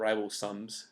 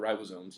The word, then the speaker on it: ribosomes: acids and like rival I used to call them rival sums and they were called ribosomes you know and I